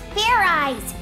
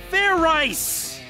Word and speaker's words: Fairize: about is food idiot it's pronounced fair eyes there's no ice in it what does this fair